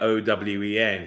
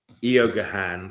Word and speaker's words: Eoghan: I had a friend whose name was Owen, and he was Irish, and he wasn't like Owen. He was like Eogahan. So it was like Eoghan or something.